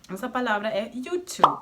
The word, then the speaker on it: YouTube: It's Youtube. Here the same thing: In Brazilian Portuguese the "e" is pronounced and stressed.